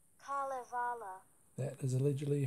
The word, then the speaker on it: Kalevala: So you can see there, it's a creation myth, telling stories about the carrying on in Kalevala, which is the name of the land in which the story is set, but it's another name for Finland.